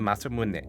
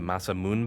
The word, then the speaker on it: Masamune: you need to know pretty much every vowel is pronounced there are no silent e's so if you've been calling this the masamune bot you're way off